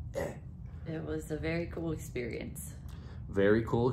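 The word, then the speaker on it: é: Eh, like you're trying to hack something up. Eh.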